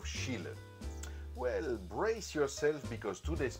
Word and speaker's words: Schiele: I have said Mucha instead of Mucha, Van Gogh instead of Van Gogh, and Schiele instead of Schiele.